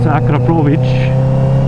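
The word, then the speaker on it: Akrapovič: was corrected on that it's akic akic yeah akic with a hard R and uh CH sound at the end so I want to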